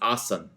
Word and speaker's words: asana: asana right your pose in sanskrit very often the last a of a word at least how it's spelt in you know sort of roman characters is muted and so traditionally asana is awesome and what it means